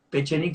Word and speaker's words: Pechenik: Pechik se escribe con P e C e N I K.